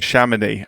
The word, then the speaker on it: Chamonix: held in Sham, Please tell me how to pronounce it. Sham. Shaman.